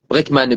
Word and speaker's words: Breakman: Breakman, Brekman. Comme un break.